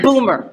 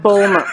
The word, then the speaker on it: Bomer: me all right matt boomer did i say his name right homer matt ballmer rhymes with bowler ah now i'll never forget it matt boner i mean matt bowmer got it may play